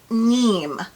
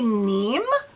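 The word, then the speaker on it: Niamh: And this is pronounced Neem, I believe. If you are a viewer from England, Ireland, Scotland, or this is your name, please, if I'm pronouncing it wrong, correct me in the comments below. But I am going to say Neem because I believe that's how you pronounce it.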